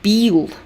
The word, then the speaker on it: бил: You confuse that y and e. So we have был, like была курочка. It means the hen was. And бил, it means to beat. They are two different words. And Americans very often pronounce them the same way.